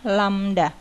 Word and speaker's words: lambda: Ini bacanya lambda, panjang gelombang.